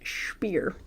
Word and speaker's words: Speer: That's the German pronunciation. Speer.